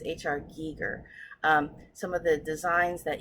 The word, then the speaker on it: Giger: and the artwork first and foremost, I always mispronounce his name. It's H.R. Giger.